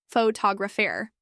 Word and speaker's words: photographer: than others for instance the word photograph has stress on the first syllable pH to graph while photographer shifts the stress to the second syllable photographer learning these stress patterns